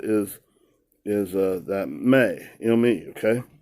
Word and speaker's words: me: May. it's spelled M-E, but it's pronounced like M-A-Y.